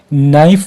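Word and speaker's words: knife: ये हम नहीं पढ़ते नाइफ नाइफ में आपने के साइलेंट रखना है इसी तरह क्लाइंबिंग में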